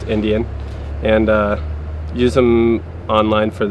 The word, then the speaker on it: NDN: I run a little blog because I've got a company myself, the NDN, like 3 letters, but it's pronounced Indian, and use them online for that.